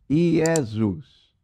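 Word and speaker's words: Ἰησοῦς: usa essa palavra j então a grafia do nome é e é s ó o s então nós pronunciamos iesus o nome jesus aparece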